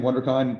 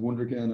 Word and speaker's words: Wunderkind: So, and great thing on Wunderkind, Wunderkind, every way you pronounce it is correct. So everywhere in Europe, in different areas of Germany, they pronounce it differently. It's cool. So sometimes different times a day, I could say it differently. Sometimes it's Wunderkind or Wunderkind or Wunderkind.